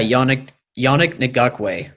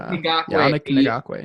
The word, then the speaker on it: Yannick Ngakoue: Yeah, Yannick Ngakoue. I think that's how you pronounce it. Yannick Ngakoue.